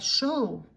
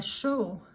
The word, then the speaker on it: chaud: Il fait chaud. Il fait chaud. Or il fait très chaud. It is hot. It sounds like S-H-O-W in English, but you write it as C-H-A-U-D.